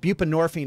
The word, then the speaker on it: buprenorphine: Help me pronounce these, okay? Methadone. What's the other one? Buprenorphine.